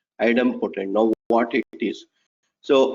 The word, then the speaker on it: idempotent: to insert a resource so post is not idem potent okay it's a little difficult to pronounce it but it's item potent now what it is so item not idempotent